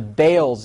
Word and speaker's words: Baals: As we've told you before, the Balls family changed the pronunciation to Bales years ago.